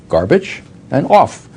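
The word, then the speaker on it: Gorbachev: saw with respect to garbach I could tell the vice president how to pronounce his name garbage and off make sure you pronounce the accent the off that's the way the orthography goes okay well anyhow uh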